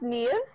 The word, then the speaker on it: Niamh: my life it's pronounced me I like to say Eve with an N knees Wow yeah but in Ireland the language when there's an M and H together gives a V sound phonetically so it plays a